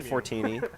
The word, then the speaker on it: Fortini: You got Derick, regular commentator here for tchlive, and a guest commentator, Fortini. And I am pronouncing that correctly? You are, yes.